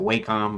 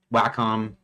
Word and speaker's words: Wacom: So it's a how do they pronounce it? Wacom. I always pronounced it Wacom, but Wacom.